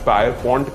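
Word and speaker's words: Pierpont: John John peppermint Morgan मैंने शायद इसको गलत प्रोनाउंस किया होगा इसको कुछ पायर पॉइंट कहते हैं कोई पियर पॉइंट कहते हैं मैं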